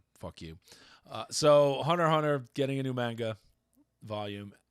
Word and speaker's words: Hunter x Hunter: x Hunter is getting Hunter Hunter sorry you're not supposed to pronounce the X people get mad is